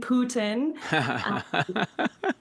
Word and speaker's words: Putin: Um, it's you can see in the pages that uh it's supposed to be pronounced P O T I H N. Putin.